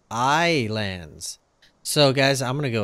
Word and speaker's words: Ylands: more while ants or as I've recently been informed islands yeah that's right we finally know what this game is called or at least how to pronounce it it is AI lands so guys I'm gonna